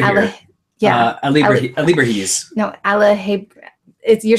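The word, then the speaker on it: alebrijes: Alibrahis. No, you're saying it wrong. No, you're saying it wrong, because that's not Alahebres.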